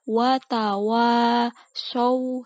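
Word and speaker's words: وتواصوا: Nah, di sini kebanyakan yang salah dari beberapa yang sudah misalnya dengarkan di sini adalah watawa, wanya yang kedua ini yang panjang. Watawasaw, jadi pakai shot.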